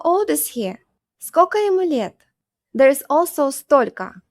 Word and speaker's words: сколько: The next one is сколько. It means how much or how many. Сколько becomes скока. Скока. And since the last O sounds like A anyway, we spell it like this.